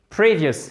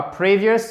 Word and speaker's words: previous: Previous, et non pas previous, mais previous. Accent tonique sur la première syllabe. Pour la petite règle, quand ça se finit par ius, comme ça, l'accent tonique il est sur la syllabe précédente.